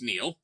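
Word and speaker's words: Niall: maybe dear bob show my name is pronounced neil neil hi neil nice to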